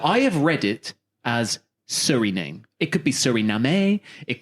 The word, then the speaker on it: Suriname: And I went to, now I haven't actually clarified the pronunciation of this place. Okay. But to me, it reads as Del Fuego. Suriname.